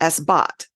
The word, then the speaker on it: Esbat: a solar gear and these are called s-bats pronunciation might be s-bot or s-bot but I always do the a as an a which may not